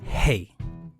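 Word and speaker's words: ה: The only change in the spelling, the Hebrew spelling for both names, is adding the letter H, which is pronounced hey.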